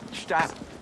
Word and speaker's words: Gstaad: No, Christmas in Gstaad is going to cost us. Wow. The G is silent.